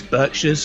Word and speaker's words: Berkshires: porters um Berkshires um is it Berkshires or Berkshires because the um Americans like to pronounce things differently over there for some reason it's Berkshires I'll never understand why